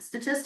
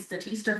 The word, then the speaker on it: Statista: I recently learned they pronounce it Statista. I've been calling it Statista for years.